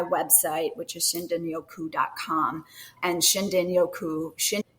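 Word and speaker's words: shinrin-yoku: And Shindinyoku, is spelled with an R, but pronounced with a D in the Japanese language.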